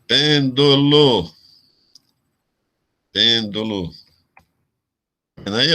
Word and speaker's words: pêndulo: Se a sílaba forte fosse no do aqui, seria paroxítona. Se fosse no lo aqui, seria oxítona. Mas é proparoxítonas. A sílaba forte é na antepenúltima.